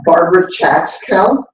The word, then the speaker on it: Barbara Chatzkel: Barbara Chatzkel.